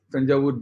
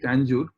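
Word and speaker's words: Thanjavur: I am not calling it purposefully Tangur because Tanjour is a English word and people who cannot pronounce like Odisa they are called. So we have Kolkata they have made it Kolkata. So like this that name so the original name is Tanjaw.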